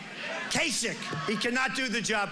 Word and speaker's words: Kasich: In fact, most people don't even know how to pronounce his name. Kasich. Quesick. Pretend it's a K. Kasich.